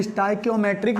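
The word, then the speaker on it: stoichiometric: अब इसकी स्पेलिंग जान लीजिए। इसको बोलते हैं स्टाइकियोमेट्रिक, कियोमेट्रिक डिफेक्ट, इसको बोलते हैं स्टाइकियोमेट्रिक डिफेक्ट।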